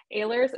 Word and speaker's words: Ehlers: Is that Ehlers or Ehlers? No, yes, you pronounce it right. Yes, it's Ehlers Estate.